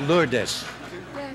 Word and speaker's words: Lourdes: I've been mispronouncing it, haven't I? Yes, you have, Mr. President. It's Lourdes.